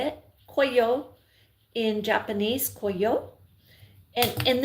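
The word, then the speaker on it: 紅葉: Coyo in Japanese coyo.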